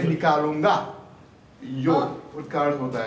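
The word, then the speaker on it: יוד: ये सब आता है, उसका अर्थ है योड, क्योंकि वो परफेक्ट नंबर है। इसको प्रोनाउंस क्या प्रोनाउंस करेंगे इसको? योड। कुछ कोई बोल रहे थे यूड बोलते हो, लेकिन योड है।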